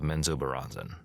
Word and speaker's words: Menzoberranzan: once lived in the great underdark city of Menzoberranzan, and that's an actual pronunciation from the audiobook for anybody who's going